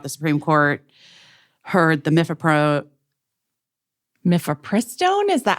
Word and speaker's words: mifepristone: Guys, in case you didn't know what we're talking about, the Supreme Court heard the mifepristone.